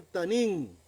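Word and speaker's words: תנין: Ese monstruo en hebreo se pronuncia tanín.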